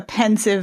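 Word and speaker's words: Pensieve: was a delayed reaction I pronounced civis sieve so it was a delayed reaction it took me until John saying oh no I've always pronounced it sieve for me to suddenly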